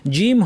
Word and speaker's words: ج: জিম হরফটি আরবিতে বাতাস বিহীন। জিমবা দেখেন জিম হরফের মাখরাজ দেখি জিম উচ্চারণের সময় জিহ্বা তালুটাকে একদম সিল করে দিচ্ছে। কোন বাতাস বের হওয়ার কোন জায়গা এখানে নাই।